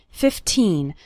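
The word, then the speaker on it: fifteen: 15 minutes a day remember to pronounce the second syllable of 15 nice and strong 15 not like 50 which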